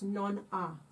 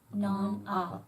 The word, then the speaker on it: non ha: And it's, don't pronounce the H. It's non ha. Non ha.